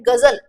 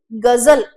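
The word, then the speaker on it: ग़ज़ल: ऐसे एक और जो आपने शब्द देखा होगा, आपका पहचाना हुआ शब्द है गजल, गजल। इसका एक्चुअल में जो प्रोनाउंसिएशन है वो क्या है? गजल, गजल।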